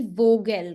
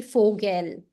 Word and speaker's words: Vogel: Exactly, it will not be Vogel, right? Because V is pronounced as F, so it will be Vogel.